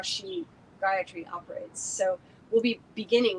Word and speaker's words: Gayatri: it on YouTube um Gayatri often you'll hear it pronounced in an action incorrect way um for the purposes of our Houma and hopefully on your ongoing relationship with Gayatri um three equal separate syllables I was sitting one